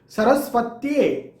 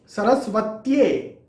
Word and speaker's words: सरस्वत्ये: उसी तरह से श्रिंग, ओम ह्रीं श्रीं सरस्वत्ये। अभी सरस्वती जैसा हम कहते हैं, सरस्वती, तो आधा त और ये सरस्वत्ये, सरस्वतीये नहीं कहना है, सरस्वत्ये, आधा त या से जुड़ा हुआ, सरस्वत्ये नमः।